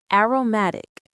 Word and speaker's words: aromatic: Aromatic. The stress, that little bit of extra energy is on the third syllable.